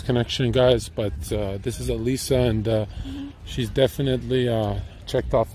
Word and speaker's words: Alisa: Alisa. I'm saying it right. Alisa.